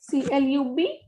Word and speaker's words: club: Next is C-L-U-B, ending with B, so it will be pronounced completely club.